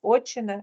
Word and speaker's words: отчина: рідний край батьківщчина отчина тільки правильно наголос отчина і вічина добре діти прочитали все